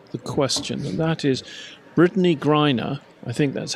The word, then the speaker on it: Brittany Griner: Okay, to get the question, and that is Brittany Griner. I think that's how you pronounce her Yes, name. Brittany Griner, yeah.